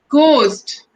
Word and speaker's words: ghost: H okay so let's see where our H is silent so we have some examples of words let's read it out ghost ghost so what is the sound of it